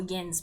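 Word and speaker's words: Jens: Or Yen's, if you want to pronounce it correctly.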